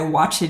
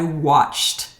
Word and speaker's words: watched: I also hear students often say, I watched TV. This is incorrect. I watched TV.